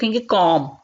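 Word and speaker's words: comb: कहा जाता है फॉर्म यहां पर बीच साइलेंट होगा भी नहीं पढ़ा जाता है इसको कॉम कॉम ने अब इसको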